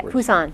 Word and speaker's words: Busan: Yeah, Busan, yes.